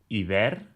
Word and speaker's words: iber: Aviam, tècnicament, en català s'escriu iber, sense accent, i, per tant, són els ibers.